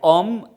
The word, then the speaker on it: homme: So, this is something which I have to mention, like homme, H-O-M-M-O, homme. It is not starting with a vowel, but here H is mute.